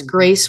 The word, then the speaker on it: Graice: there yeah yeah so my name is spelled really weird it's g r a i c that's Grace with an i after the A and it's